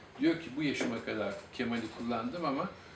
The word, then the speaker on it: Kemal: Son A üzerinde tahfif işareti yani inceltme işareti yumuşattığı için telaffuz hemen hemen Arapça Kemal telaffuzuna yaklaşır. Benzeyiş bundan ibarettir. Sene 1935. Yani diyor ki bu yaşıma kadar Kemal'i kullandım ama o Arapça